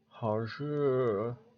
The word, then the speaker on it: 热: You just gotta like really pronounce that R at like the tip of your lips, teeth. 好热.